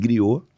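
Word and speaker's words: griot: E griou aí você mais. Griou. Bota tráelo que se escreve G r i O T. . O T. Isso. Got. Isso. Tem mudo.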